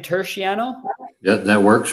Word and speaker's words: Turchiano: Is your last name Turchiano?